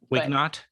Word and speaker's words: Wignot: Is that Wignot? Wignot. Yeah. Okay. Well, there was only a couple of ways to pronounce it, and I was.